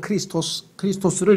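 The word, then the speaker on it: Χριστός: 원래는 크리스토스를 이제 영어로는 그 크리스토스라고 하는 것을 영어식 발음으로 하니까 크라이스트가 됐고, 그 크라이스트라고 하는 단어를 또 우리말로 하니까 이제 그리스도가 됐는데, 어쨌거나 이건 다윗의 자손이라고 말하느냐.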